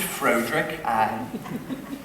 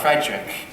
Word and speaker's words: Friedrich: know I'm not then your first name pronounced it Frederick no Friedrich really why isn't it Frederick Frankenstein because it isn't as you wish Master